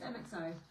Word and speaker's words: MXO: how you pronounce it you just pronounce the letters it's mxo is that yeah just mxo so it comes in